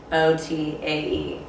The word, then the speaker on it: Mignotae: But the G and the N make them, it's mignotae.